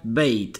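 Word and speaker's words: بيت: entonces vamos a empezar primer palabra bites sería beit bien pronunciada la palabra beit bright la segunda bing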